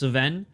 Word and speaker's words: Cvejn: Oh, it's just Cvejn. That's how his last name is pronounced, Cvejn.